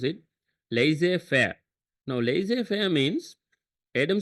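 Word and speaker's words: laissez-faire: Okay this is how you pronounce it. Laser fair.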